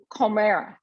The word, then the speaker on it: Komera: And then it's Comera.